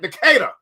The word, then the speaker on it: Decatur: Decatur.